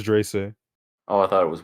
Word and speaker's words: Dreyse: It's Drace. Oh, I thought it was Wagon. It's spelled Dreyse.